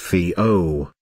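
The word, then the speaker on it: whio: the dabbling ducks the Maori name sometimes used in English is while pronounced vo which is an onomatopoetic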